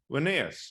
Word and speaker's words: Linnaeus: Carl von Linnaeus, sometimes. Carl von Linné. Linnaeus, I've heard of Linnaeus. Oh, okay. Yes. God. Yeah. I need the terrible American pronunciation. Linnaeus. Yeah. Yeah. Sorry, Carl von Linné, or Carl Linnaeus, as Americans call him, was the botanist,